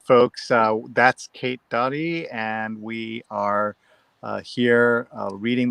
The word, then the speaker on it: Doty: And he says, I've been mispronouncing her surname for many years, even when I worked with her. It is Doty.